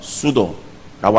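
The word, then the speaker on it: pseudo: 단어가 있어요 그것이 pseo 그래서 앞에 피자의 음이 소리나지 않는 묵음이 그래서 수도라고 하는 그런 말인데 그것은 거짓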